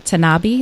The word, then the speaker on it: Tanabe: believe it was on Facebook, about writer Karen Tanabe. Is that how you pronounce her last name?